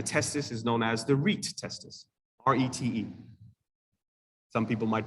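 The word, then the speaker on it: rete testis: epididymis and the testis is known as the reit testus r-e-t-e some people might pronounce it the recitaesters now at this stage they're transferred to the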